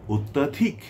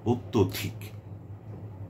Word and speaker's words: অত্যধিক: শব্দটি কি আসলে অত্যাধিক নাকি অত্যধিক?